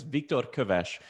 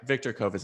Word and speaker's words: Viktor Köves: of my name is viktor kovesh but those sounds don't exist in english so i never i